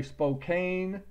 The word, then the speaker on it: Spokane: told us taught us how to say Spokane Washington because it's got one end so that makes it a long a Halina Montana because it's